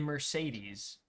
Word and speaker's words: Mercedes: call a patient in Mercedes all three E's are pronounced differently correct that name's [